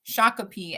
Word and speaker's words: Shakopee: Shakopee.